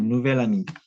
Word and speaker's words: nouvel ami: Une nouvelle amie, un nouvel ami, c'est euh c'est pareil pour la prononciation. Nouvel ami, nouvel ami, mais c'est différent à l'écriture.